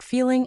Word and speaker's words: feeling: But honestly, we rarely hit that harsh G sound at the end of feeling. We just say feelin'.